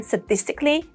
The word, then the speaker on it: sadistically: However, in sadistic and sadistically, we have s with a schwa sound.